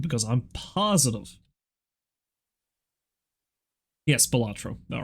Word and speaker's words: Balatro: specifically in the indie sphere, was like, yeah, Balatro is good. I need to actually look up how it's spelled because I'm positive. Yes, Balatro.